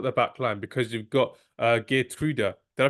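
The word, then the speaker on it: Geertruida: you set up the backline because you've got G truda did I pronounce that correctly guda guda yes right guda you got guda got Dum freeze and you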